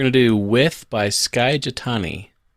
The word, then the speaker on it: Skye: That's With, W-I-T-H, that's the end, by Skye, spelled like the sky with an E at the end, Jitani, spelled like Jithani.